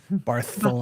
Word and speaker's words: Barcelona: You gotta say it like Barcelona. Spanish. Barth.